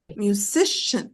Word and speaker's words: musician: good next Musician musician musician three good good job okay musan because three sybles musician and the stress is on the second Sy musician next firefighter three